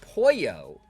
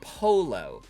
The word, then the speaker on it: pollo: They were pronouncing pollo, which is the Spanish word for chicken, as polo.